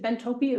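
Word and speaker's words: Bentopy: Is it bentopi or tropy? Bentopi like bento box.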